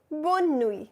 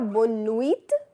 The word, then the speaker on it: bonne nuit: to bed, you say bonne nuit. Now here I'll pronounce the N because it is double consonant combining with a vowel. Oui. Bonne nuit. So ce n'est pas bonne nuit, T is silent.